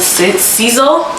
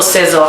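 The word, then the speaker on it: Sezzle: It's called Seasel or Sezel, however you want to pronounce it.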